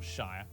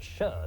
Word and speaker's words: shire: it's pronounced sheer not shire actually it's pronounced sher not sheer plebs over the centuries